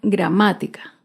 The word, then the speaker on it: gramática: vemos otro ejemplo con la palabra gramática gramática se acentúa en la ante penúltima sílaba gramática otro claro ejemplo es